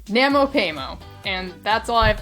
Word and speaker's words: NaMoPaiMo: yeah they did well that was Nano payo you you would think I've learned to say it correctly by now Namo payo and that's all I